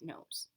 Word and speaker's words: nose: rows and rhymes with nose they both sound like they have a Z but it's actually a